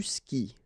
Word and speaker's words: skis: And then, tu skis. Well, exactly the same thing, even if you get this s. Well, actually, the is mute. You don't pronounce it, so you don't pronounce the final s either.